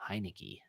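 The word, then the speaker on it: Heinicke: Oh, Heineke.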